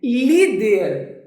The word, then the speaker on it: líder: Líder. Por que líder tem acento? Ó, líder. Qual é a sílaba mais forte? É o li.